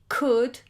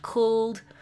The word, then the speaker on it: could: Other ways of producing like in those modals, could, would, should, where the OU produces the sound and the L is silent. Remember that. The L is silent. It's not cooled or wooled or should.